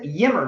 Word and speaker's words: Ymer: Yimmer, Michael Yimmer.